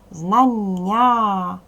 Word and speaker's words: знання: продовжений а знання наголошений знання наголос падає на другий склад дивіться дітки твердий приголосний